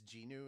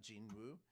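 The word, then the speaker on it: Jinwoo: uh after learning that you're not supposed to pronounce the W in Korean, so his name is Gu and not Gin Woo.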